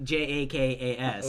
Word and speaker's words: Jakas: That is pronounced. Last name Jakas. Ooh. Exactly what you know. Yeah. It's like that word, but not really.